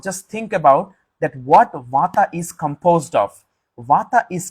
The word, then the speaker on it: Vata: the queen of doshas Vata water v-a-t-a first a is a long a second a is a short a so what what in